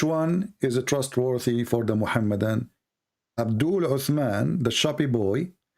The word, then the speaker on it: Muhammad: I say Muhammad. Is that how you say? Muhammad, yes, Muhammad.